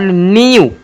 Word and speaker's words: new: NEW न्यू, क्या न्यू, न्यू, न्यू।